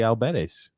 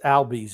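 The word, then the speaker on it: Albies: uh how usual uh ozzie alberts correct i don't it's albie's is i think he's like you know what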